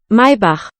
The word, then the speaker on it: Maybach: Maybach. Bach. Maybach. Huh. Yeah, a Maybach is a very expensive car that I feel